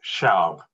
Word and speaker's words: Shao: Shao. Oh, say that again, please. Shao. H is silent, yes.